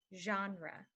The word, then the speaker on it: genre: this one is genre genre genre is another word for category so here's a way to remember it John raw likes the horror movie